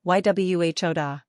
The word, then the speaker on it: Yehuda: Pronunciation, Yhuda.